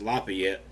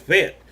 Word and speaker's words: Lafitte: as we went through Lafitte Alabama and I know that's suppose being pronounced Lafayette but most of us around here just call it fit but anyway leave it